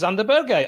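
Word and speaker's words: Sander Berge: joining the podcast yeah uh mikhail is saying that that's correct it is it's xander berger okay fine that's that's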